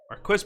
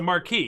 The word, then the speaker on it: marquis: Marquis pronunciation. It's a marquis, yeah.